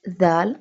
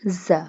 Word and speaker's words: ذ: It's ذال, not za. Pronounce it softly. It pronounced from the tip of the tongue touching the inner edges of the top two front teeth.